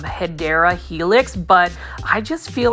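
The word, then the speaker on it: Hedera helix: And you know, as far as English ivy, if you are new to the channel, the correct way to say it is um hideera helix.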